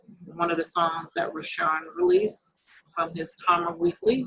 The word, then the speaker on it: Rashaann: He's everywhere, and it's spelled RASHAANN_Karma, KARMA. Rashawn.